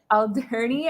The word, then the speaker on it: Alderney: Alderney, I believe is the pronunciation. Alderney, yeah, Alderney.